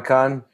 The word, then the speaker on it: Khan: wondering I'm a con con spelled like Kubla Khan the Conqueror I'm a con